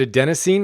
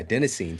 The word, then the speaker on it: adenosine: go so good man and then is it a Denine is that how you pronounce it oh yeah adenosine so that was a lot of people don't